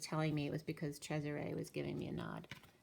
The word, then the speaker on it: Cesare: had named my child Cesare which is Caesar the way it's pronounced in Italian and I didn't actually